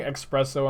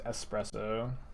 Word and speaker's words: espresso: have double black for liliana am i saying expresso on purpose uh sure i actually didn't know his espresso this has never been a pronunciation stream or